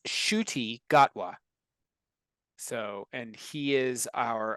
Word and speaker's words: Ncuti Gatwa: think he's Scottish randan actor uh it's it's pronounced shuy gatwa so and he is our official 15th uh